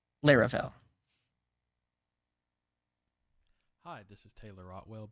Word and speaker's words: Laravel: you for the resub according to a bunch of Juniors I have working with me it's lirell I have no idea how they came to that conclusion here's a video where Taylor otwell says the name let me plug in my sound it seems like we're probably G to go with larell hi this is Taylor